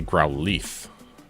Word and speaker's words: Growlithe: I say Growlithe because it's got an I. Growl and then Lithe. I guess that spells like lithe, not leaf.